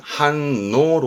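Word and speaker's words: 反応: 항해 항해 반응입니다 응 조심하셔야 되는데 응은 원래가 5로 갑니다 5 그런데 앞에게 한 발음 되잖아요 그러면 이때는 문제 되는 부분이 한해서 니은 받침 했을 경우에 5호가 발음이 안 돼요 연음 때문에이 오가 발음이 바뀌게 되는 케이스가 있습니다 발음은 한노로 갑니다 한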